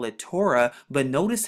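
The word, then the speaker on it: תורה: So when you put it together, you get Thura, Thura. So like we just went over and talked about, thanks means thuda, or pronounced thuda, as we saw in Strong's H8426, and the word Torah, as it's commonly known, is thura, which means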